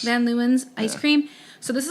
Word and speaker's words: Van Leeuwen: Van Leeuwen's. Van Leeuwen's ice cream.